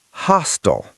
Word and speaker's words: hostile: Hostile. He's being very hostile. Hostile, like tile on the floor.